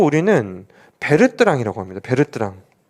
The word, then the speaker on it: Bertrand: 그 단어가 써 있잖아요 어떤 교수님들께서 는 버트란드 모형 이라고 해요 같은 건데 뭐 0 아 좀 아닌것 같아 그거는 것이 2분들이 이제 실제로 발음할 때는 베르트랑 이라는 표현을 쓰게 되는데 그 출제 하시는 분께서